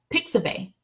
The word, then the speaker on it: Pixabay: Next, another resource I want to share with you guys is called Pixabay. So that's pronounced, so it's spelled P like Peter, IXABAY, .com.